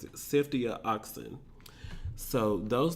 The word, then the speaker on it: ceftriaxone: option remains: a combination of antibiotics, azithromycin, and ceftriaxone. I think I said that wrong. I Googled it and listened to YouTube pronounce it. Ceftriaxone.